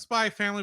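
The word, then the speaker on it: SPY×FAMILY: It's pronounced Spy Family, but if you're Googling it, it's Spy X Family because anime.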